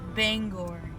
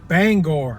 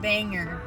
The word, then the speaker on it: Bangor: It's pronounced Bangor. Bangor, not banger.